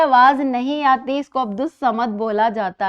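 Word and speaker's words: عبد الصمد: आवाज़ नहीं आती, इसको अब्दुस समद बोला जाता है। इसी तरह एक लफ्ज़ है शम्सुज़्ज़मा। इसमें भी अलिफ और लाम की आवाज़ साइलेंट है और इसको शम्सुज़्ज़मा बोला जाता है।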